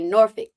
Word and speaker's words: Norfolk: we're over in, as the locals say, Norfolk. Okay.